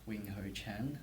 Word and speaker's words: Wing-Hou Chang: c o d l UA yeah and it's wingho Chen for me uh I'll probably spell it out it's w i n g h